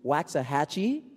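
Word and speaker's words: Waxahachie: on out we have uh John grosel to waxah hatchee I said it right this time uh in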